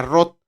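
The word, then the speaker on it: רות: En hebreo se pronuncia Rot y significa amiga.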